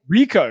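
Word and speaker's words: Ricoh: Rico.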